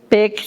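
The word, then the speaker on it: Beck: Peck, aunque se pronuncia con P, es B-E-C-K.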